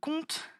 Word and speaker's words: compte: Cette fois-ci, le mot compte, il est composé de 2 syllabes.